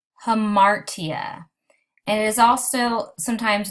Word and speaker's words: hamartia: The first one is pronounced hamartia, and it is also sometimes known as the tragic flaw.